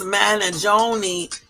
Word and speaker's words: Mangione: The Italian pronunciation of this name is Luigi Mangione. It's Mangione. Luigi.